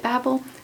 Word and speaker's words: Babel: think and that is Babble or Babel it doesn't really matter um I looked up how the author RF Quang Rebecca Quang pronounces it in an interview she pronounced it Babel so that's what I'm going with so we are